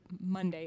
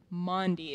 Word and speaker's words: Maundy: doesn't make sense but it's actually not the word monday it's the word mondi if you look on your sheet you can see how it's spelled m-a-u-n-d-y so the bible story